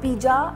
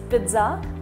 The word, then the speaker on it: pizza: debt it's not d it's data it's not piz it's pizza so whenever you go to restaurant pronounce it correctly don't say piz it's Pizza